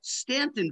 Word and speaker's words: Staunton: spelled that's spelled correctly i learned that there it's actually called stanton virginia no idea why go ahead george um